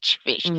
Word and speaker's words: Phish: It's called Fish. It's spelled P See? Phish. Fish. I don't know if Mm-hmm.